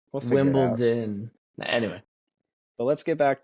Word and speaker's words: Wimbledon: to figure it out yeah and also Wimbledon you always with a t bro Wimbleton no no no Wimbledon anyway but let's get